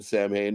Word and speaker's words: Samhain: Well, it's pronounced Samhain, which is like the original Halloween that was started in Ireland. So that's what it's called in Ireland? Yeah. Wow. I didn't know that. Okay. Samhain is what Halloween's called in Ireland.